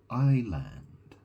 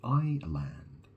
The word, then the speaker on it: island: I live on an island that's the thing isn't it in the word Island the S is silent isn't it so you don't say is land you say I land so the thing is